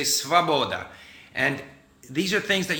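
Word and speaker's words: свобода: You might think it's svoboda, but they don't say svoboda, they say svaboda.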